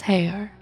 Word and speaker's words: Haigha: happy his name is hair he pronounced it so as to rhyme with mare i love my love